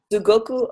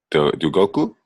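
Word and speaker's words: すごく: Sugoku oishikata. Dugoku?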